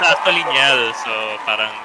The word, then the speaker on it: Niel: It's ano it's actually Niel So parang you pronounce it like Daniel yeah ah yeah yeah